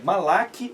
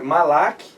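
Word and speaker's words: מלאך: É Malak, mas a pronúncia é gutural, né? Malach.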